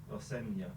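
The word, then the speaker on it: Rosenior: Next up is Chelsea against Brenford Rossia or Rosinia, whatever, whatever he wants to be called. First, how do you say it? Rosena.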